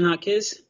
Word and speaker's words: Jaquez: My name is Jaquez. The J sounds like an H, so that for those of you that are reading might pronounce it differently.